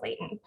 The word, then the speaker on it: latent: uh meyer pronounces it latin heat so if you hear her say latin and it's either or um by the years a lot he that's what she's talking about i pronounce it layton all right so this